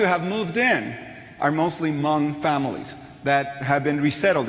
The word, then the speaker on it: Hmong: And she goes, "It's Hmong." The H is silent.